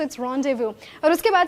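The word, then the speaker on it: rendezvous: तो ये this is the word रोंडेव्यू try pronouncing it.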